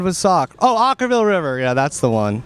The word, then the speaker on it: Okkervil: hard name to pronounce it's kind of like o c h r okra Ultra Ville River or something like that we have will from from okra yeah or something yeah yeah yeah yeah rhymes with sock rhymes with sock oh